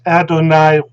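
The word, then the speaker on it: אֲדֹנַי: with a patak and it's pronounced adonai whether it's ashkenaz or safari because the patak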